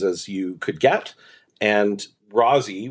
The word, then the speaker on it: Rosie: you could get and Rousy which is how her friends would pronounce it grew up in Forest